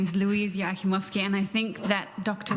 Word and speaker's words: Joachimovsky: My name is Louise Yakimovski, and I think that Dr. Ronald probably has the number one unpronouncable surname, but I'm a close second here with my husband, Miha. Our last name is pronounced Yakimovski, if you care to try it.